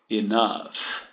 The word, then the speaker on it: enough: Quando ele é pronunciado, ele tem o som de F. Laughed. Enough.